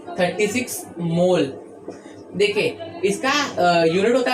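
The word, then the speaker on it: mol: इसका यूनिट होता है मोल और इसका ऐसा सिंबल का भी प्रोनाउंसिएशन मोल ही होता है, बट इसमें ई हट जाता है, मोल।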